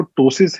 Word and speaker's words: ptosis: जाता है प्टोसियस ये ये शब्द जो है जिसमें अक्षर पी साइलेंट है इसीलिए उसको टासेस कहते हैं इसका ये कंडीशन